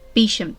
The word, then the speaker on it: Beauchamp: Guildford was in the Beauchamp Tower sorry bisham Tower I've been told I was mispronouncing the name of that Tower this would have prevented